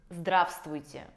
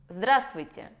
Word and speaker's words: здравствуйте: Здравствуйте. При произношении этого слова выпадает буква «В», которая находится в середине. И таким образом мы не говорим «здравствуйте», а мы говорим «здравствуйте».